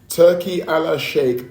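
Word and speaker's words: Turki Alalshikh: So, I listen, I've got to say it like this because that's what it is. Turkey Allah Shake opened the door for Dana White and let him in.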